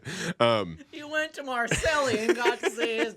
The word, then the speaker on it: Marseille: It is Marseille, though. Oh. Is that right? Okay. Marseille? Okay. I always said Marseille.